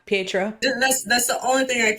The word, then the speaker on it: Pietro: Well, except that whole how do you say his name? Pedro. Oh yeah, Pietro.